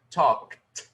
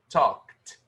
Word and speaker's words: talked: Então, se nós temos um som unvoiced, talk, no simple past a gente vai pronunciar como talked, talked.